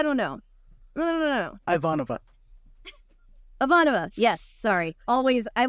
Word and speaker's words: Ivanova: right Susan I know I keep imagining ivanho and somehow I get there ivanho Ivanova like Ivanova I literally had to create a word puzzle for myself to remember how to pronounce her name because I was like